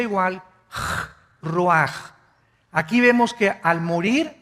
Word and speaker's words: ruach: El ruaj que se escribe r u a c h. Ruach en el hebreo y se pronuncia igual roj.